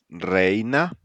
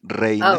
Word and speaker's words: reina: So we have combinations like AE, pronounced like the A in May. So examples: reina. Say it with me: reina. Oh, Vrena, Again, reina.